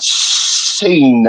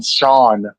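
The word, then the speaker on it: Shan: It's S H A N. Not S E. I'm not seen. I'm Sean. Not seen.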